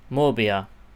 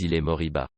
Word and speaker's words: Moriba: Alright, and the first player that we're talking about today is Ilax Morabi. Pronunciation is MORIBA.